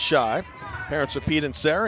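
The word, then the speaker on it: Schaich: Nick spells his last name, S-C-H-A-I-C-H, pronounced Shy.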